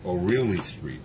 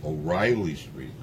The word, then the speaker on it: O'Reilly: And in Spanish, they pronounce it O'Reilly Street, but it's really O'Reilly Street.